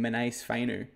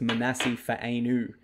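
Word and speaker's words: Manase Fainu: saying his name wrong his proper pronunciation is manasi fanu obviously everyone's just calls him man Fu but it's Mani Fu um like every time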